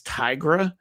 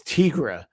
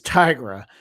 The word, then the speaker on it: Tigra: that character's name is Tigra. I read it as Tigra, but she's a tiger. So, her name is Tigra.